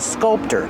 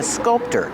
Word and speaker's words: sculptor: A person who makes sculptures is called a sculptor. That's the person. The person is a sculptor. With this word, we use the T sound.